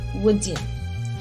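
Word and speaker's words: Woodin: a high quality ghanaian material called woody pronounced wooden it is cut within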